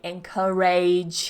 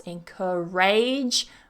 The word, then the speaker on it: encourage: it's like age but because it's a weak syllable we're not going to pronounce it with that stress encourage we're going to pronounce it more with a weak sound encourage enage encourage number 35